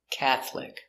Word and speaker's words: Catholic: very good example catholic it looks like catholic but this syllable is silent catholic i am not catholic